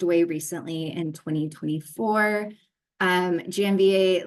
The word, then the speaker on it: Janvier: Alex Janvier, not the Jeanvier that I want to say, um is from the